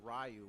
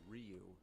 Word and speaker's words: Ryu: We didn't know Rayu was actually Ryu Blanca.